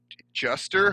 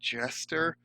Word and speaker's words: Juster: Apparently, it's to Gary Juster, who they call Gary Jester in the thing. That's terrible that they would get Gary Juster's name wrong.